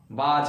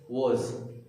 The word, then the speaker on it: was: वाज, बाज के जैसा साउंड आ रहा है। वाज लग रहा है घड़ी है, वाज। इट्स नॉट watch, it's not बाज, it's was।